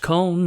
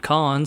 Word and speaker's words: Kon: I've also been told by absolutely no one that it's apparently pronounced Kon, not Con, so if you care about that shit, there you go.